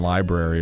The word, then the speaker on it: library: It's just like if you pronounce the R in February, people will be like, "What?" Yeah, but you have to pronounce the R in library, or else you look like a weirdo.